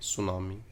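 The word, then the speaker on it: tsunami: सुनामी। T silent होता है बच्चों इसमें।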